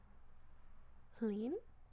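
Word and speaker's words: Hlín: Helen, it rhymes with spleen and is the name of a protector goddess in Norse mythology.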